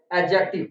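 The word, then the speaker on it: adjective: क्या बोलेंगे, एडजेक्टिव, नॉट एडजेक्टिव। बहुत लोग डी बोलते हैं, डी इज साइलेंट हियर, जैसे बजट, एज।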